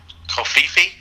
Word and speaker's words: Covfefe: Now, obviously, it's a made-up word, so you can say it pretty much however you choose. How do you, Brad Cox, say her name? Covfefe.